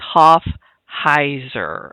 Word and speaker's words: Hoffheiser: So, how to get Well, let's talk about how to say my name. It's Hoffheiser. Okay, that's what it sounds like right there. But it's spelled differently.